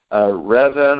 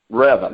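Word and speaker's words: Revan: of the novels like revin or even i'm not exactly sure how to pronounce that often pronounced a couple different ways Oh reven okay thank you James alright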